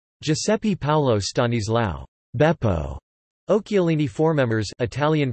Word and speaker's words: Occhialini: Occhialini formemmers, Italian pronunciation, du spe okkja li ni, 5 December 1907 to 30 December 1993, was